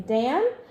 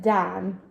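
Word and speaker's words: Taan: name is dan t-a-a-n it looks like the name dan but it's done and uh that that vowel does not exist in english but my name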